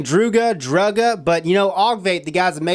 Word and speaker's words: Druga: know people are saying druga drug but you know Ave the guys have made this they're the ones that said hey rip it's called the drew guard that's how it's pronounced dr UGA our so i'm santa drew